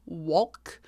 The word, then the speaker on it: Wolk: And I believe her last name is pronounced Wolk. W-O-L-K, so Lauren Wolk.